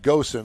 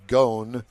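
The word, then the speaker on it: Ghosn: with former chairman Carlos I call him Goen I think it's pronounced gone and moan about who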